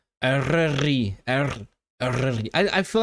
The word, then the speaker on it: Eryri: Your pronunciation of Eryri seems fine to me. It's just thanks, Edward, but like I just don't. I think Eryri sounds wrong without the trill.